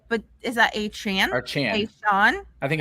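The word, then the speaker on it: Achane: Chan I don't know he said a Chan even though with the E makes a chain which yeah rolls off the tongue better but whatever it's not my name yeah because it rhymes with the a part yeah all right but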